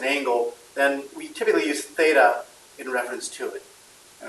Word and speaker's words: Theta: and that deals with this thing here called Theta so how do you pronounce this letter it's called symbol is called Theta it's a Greek letter comes from the Greek